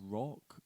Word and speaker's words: Rauk: Is it rock or rogue? It's spelt Rauk, but I pronounce it Rauk.